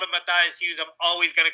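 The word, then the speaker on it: Matthias Hues: Matthew yeah so Matthews yeah Matthews who's like look who's talking that's what he says okay okay so so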